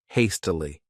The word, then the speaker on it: hastily: This word has 3 syllables, and the stress is on that first syllable, hastily.